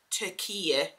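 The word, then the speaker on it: Türkiye: now so it's spelled t-u-r-t-k-i-y-e um and it's pronounced turkey so yeah I didn't know that um and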